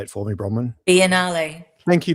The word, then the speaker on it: Biennale: Biennale. Thank you, Biennale.